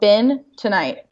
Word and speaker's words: bentonite: It's literally spelled bentonite. Ben, Oh, sorry, like the B-E-N. man. Tonight, ITE. It's yeah, but if you